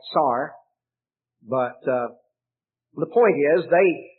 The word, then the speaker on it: czar: in in english though what they said the way they said it was more like tsar but the point is